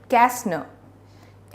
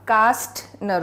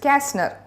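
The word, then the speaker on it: Kästner: written by Emil Eric कैस्टनर Emil Eric कैस्टनर this is नॉट कास्ट नर okay this is कैस्टनर what is इट इट इज कैस्टनर टी is silent right चलो we will read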